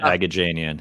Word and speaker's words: Aghajanian: last name that I already forgot how to pronounce. So sorry. At Aghajanian.